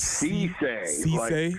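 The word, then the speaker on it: Cisse: quick pronunciation guide C say the name is c c so c i SS e so it's like Cece's pizza so well Cay CE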